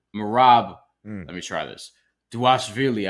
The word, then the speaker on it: Dvalishvili: Dvalishvili, I've heard it's V pronounced as a W, whatever the case may be, but we'll just call him Merab.